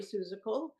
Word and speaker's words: Susal: our great friend susal uh whose last name rhymes with musical which is always helpful